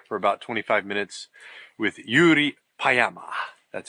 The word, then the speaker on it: Jyri Paayamaas: in the car for about 25 minutes With Yuri payama that's how you pronounce his name not pajamas Pama and uh he produced and directed this